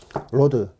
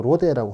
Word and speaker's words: Rode: 누구는 또 로데라고 하더라고. 로데. ROD. R 발음으로. 죄송해요. 제가 뭐 영어를 어정쩡하게 배워가지고. 근데 이게 뭐 다 로드라고 하는데 우리나라 사람은 로데 하니까 롯데도 아니고 제 롯데를 별로 안 좋아하긴 하는데, 예, 뭐 롯데 예, 그 발음 안 좋아요. 로드는 아니지만 로드면 죄송해요. 하여튼 로데라고는 뭐 좀 안 해주시면 좋을 것 같아요.